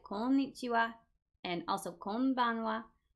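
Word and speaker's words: こんにちは: Now, what you might notice is that some words, like konnichiwa and also konbanwa, they have the character ha at the end, but it's pronounced wa.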